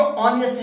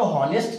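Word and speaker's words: honest: ठीक है, कि भाई ये जो ऑनेस्ट है इसमें एच साइलेंट है, ठीक है, तो वो इस ऑनेस्ट को तो हॉनेस्ट कर देंगे। अब हॉनेस्ट तो बिल्कुल नहीं है, ठीक है, अगर उनके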